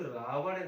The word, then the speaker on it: रावण: जैसे एक शब्द है जो बहुत लोग गलत उच्चारण करते हैं, ये शब्द रावण नहीं है, रावण है, अणा है। जैसे एक शब्द है गणित नहीं है, ये गणित है, अणा है, इसको अणा पढ़ते हैं।